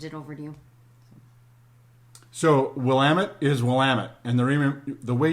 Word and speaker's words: Willamette: So, Willamette. I'll talk about this because people will frequently mispronounce it, and they'll say Willamette.